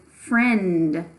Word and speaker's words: friend: our next word is friend friend friend has a silent vowel in it I'll give you a hint it's in the middle of the word friend okay let's see